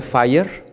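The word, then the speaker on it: FHIR: bajito que se llama se pronuncia fire así le pusieron y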